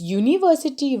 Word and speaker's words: university: This university word is starting with a vowel but giving the sound of a consonant while pronunciation.